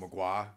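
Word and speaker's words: Mgła: Magua, the same thing. Because mm-hmm. you can only that's get... That's how it's pronounced?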